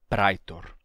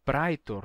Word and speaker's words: praetor: do interior, em que não se dizia caecilius nem praetor, e sim caecilius e pretor, certo? Era um sotaque em que a gente já tinha essa pronúncia monotongada, não mais o ditongo I, mas sim um simples E.